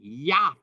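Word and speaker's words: ית: But in Aramaic, it's the word yah, spelled the same, pronounced differently, yah instead of eth.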